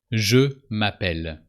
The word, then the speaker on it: je m'appelle: Je m'appelle. And the final E doesn't change the pronunciation.